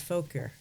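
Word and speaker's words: Fauquier: way okay and so is that how you say it folk here folkier yeah yeah folk you're so i would say and other people say other things but yeah i know if you're local or not how you say it right yeah what's up with that folk here but no it's folker okay okay that's a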